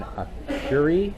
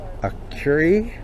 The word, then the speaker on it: Akureyri: albums well we are in a curie i believe that's how it's uh pronounced uh at the a